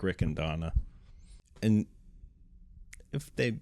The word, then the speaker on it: Riccadonna: Like I always tell MC's like it's just say three first names, blend it together. Mark, Rick, and Donna.